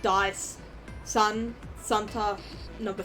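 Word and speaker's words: 三: Or sun is how you pronounce 3 in Japanese.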